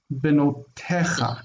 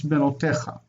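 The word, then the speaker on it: בנותיך: So the yod isn't really used for pronunciation. This is going to be ignored. Benotecha, not te. It's not there's no yod pronounced. It's benotecha.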